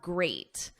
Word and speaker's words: great: Now we have great. At the end, it's ate, like the past simple of eat.